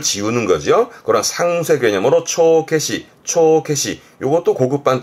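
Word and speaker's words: 帳消し: 발음은 초케시, 초케시.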